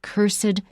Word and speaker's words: cursed: of them are possible when you put it in front of a noun we usually will put an extra syllable on it the cursed thing and sometimes we'll